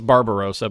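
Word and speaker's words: Barbarossa: and the the the Barbarosa the barar Roa well it's Barbarosa but I'm going to pronounce it Bob the Barbarosa I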